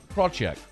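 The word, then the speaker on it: Krawczyk: couldn't pronounce k-r-a-w c-z-y-k that's well that's like shushefsky yeah but also kind of like ram chick so the let's check at the end though yeah craw check braw jack desiree crawl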